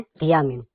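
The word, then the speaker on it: Thiamine: थाईमिनस यानी कि था और टीए एच ए। ठीक है ना? लेकिन जबकि उसमें पढ़ते क्या है? थियामिन। स्पेलिंग तो यही होती है ना?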